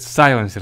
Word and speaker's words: сайленсер: нас идёт сансер сайер правильно сказать сайленсер запомните научил вас ударение на первую часть Так вот он с